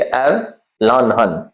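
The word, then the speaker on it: Erlangen: Germany का city है लेकिन प्रोनाउंसिएशन में जी बिल्कुल ही नहीं है ऐसा लग रहा है एंड एर लनहन इसको बोलेंगे ए लहन तो जहां ये मिलेगा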